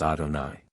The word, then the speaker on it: Adonai: letters 65 to ad me meaning Lord and pronounced by us Adonai 66 3 a high which signifies being and